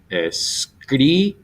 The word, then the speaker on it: escríbelo: So you'll see escríbelo. Okay, that's easy enough. Escríbelo, 3 back, lo, pe, ri.